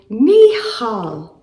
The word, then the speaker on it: Michal: The name Mel actually means who is like Yahweh and is pronounced in the Hebrew Mihal. I am going to keep referring to her in English as Michael.